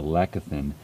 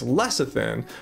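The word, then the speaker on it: lecithin: it really is the lechathin that I uh like to get out of the bee pollen. Well, first of all, I think he's mispronouncing lectin or whatever he's trying to say. It's less thin.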